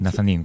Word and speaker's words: Nazanin: Nazanin, con el acento, digamos, sobre la I final.